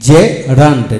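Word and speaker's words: gerund: L jail G ই আর ইউ এন ডি জে রান্ড জেরান্ড জার মান জার মান জেন্ডার জেন্ডার general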